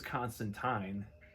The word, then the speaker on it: Constantine: The comic actually had in the 80s or 90s how to really pronounce his name, and it is Constantine.